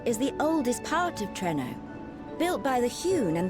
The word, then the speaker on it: Treno: The center is the oldest part of Treno.